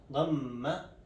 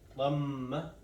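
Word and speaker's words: ضمة: And pronunciation of it is Dhamma, where we have to close our mouth or make it closer. Dhamma, oo sounds.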